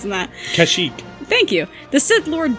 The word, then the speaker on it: Kashyyyk: I'm not even trying to pronounce that. Kashyyyk.